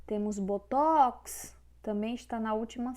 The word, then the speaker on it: botox: Temos hangar, só que hangar é oxítona, porque vocês perceberam que a força está na última sílaba. Temos botox, também está na última sílaba, é oxítona.